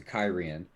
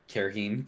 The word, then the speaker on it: Cairhien: They're making yeah, their way to Cairhien.